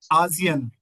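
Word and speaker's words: Asien: हैं ओगोपा ओगोपा ओगोपा आयन एशिया को हम बोलते हैं आयन आप ये भी कह सकते हैं आयन मैं आयन आयन में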